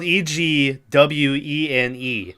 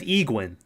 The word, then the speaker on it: Egwene: Like even Egwene, her name is spelled Egwene. So I always said Egwene, right? But then you get the show, and they're Egwene, and I'm like, "No, no."